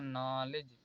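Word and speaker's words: knowledge: यहाँ पर एन से पहले क्या आया इसलिए यहाँ पर पढ़ा जाएगा नॉलेज। अब हम लोग एल साइलेंट देखते हैं।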